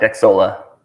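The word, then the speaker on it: Xsolla: Is that X Zola? How do you say it? Correct, Xsola. I mean, it's No. pronounced a few different ways, but I pronounce it Xsola, so perfectly All right.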